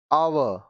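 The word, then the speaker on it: hour: अब देखिए यहां पे एच साइलेंट होंगे। ऑनर, इज्जत, ऑनर, इज्जत। आवर, घंटा, आवर, घंटा।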